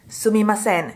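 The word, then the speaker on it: すみません: Sometimes you also hear it as "suimasen" so the one "m" disappears So you can use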